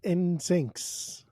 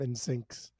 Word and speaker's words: NSYNC: so much more on my my mispronunciation of ins syncs in sync in in sync in sync in sync there you go you got it you